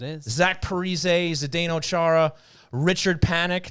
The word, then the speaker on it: Richard Panik: Richard Panik.